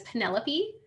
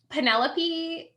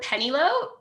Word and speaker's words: Penelope: know odd sure but penelope does not really look on the page the way that you would pronounce it of course so i called her penny lope for the whole summer and no one corrected